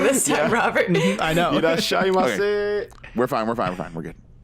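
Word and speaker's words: irasshaimase: I mean, you've got Irashimasen down for the most part. Irashaima. He doesn't even say that wrong. You said it wrong this time, Robert. I know. Irashaimase.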